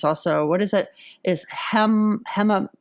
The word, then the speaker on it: hematopoietic: Is hematopoietic?